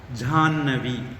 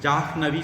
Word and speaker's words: ஜாஹ்னவி: இன் சொல்லி இ சொல்லுவோம் ஜான்வி ஜாஹ்னவி சொல்ல மாட்டோம் எழுதுறது அப்படித்தான் இருக்கும் நாம சொல்றது ஜானவி அப்படின்னு சொல்லுவோம் அது மாதிரி இங்கேயும் நிக் நிக்ரின்